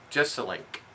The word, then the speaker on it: Jeselnik: I've been to watched Anthony just a link is how we pronounce it just name so I'm